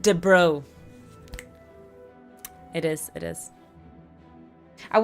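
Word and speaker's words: de Broglie: It's pronounced de bro.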